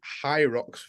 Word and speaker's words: Hyrox: Pronounced hyrox without the D, but yeah, who fucking cares?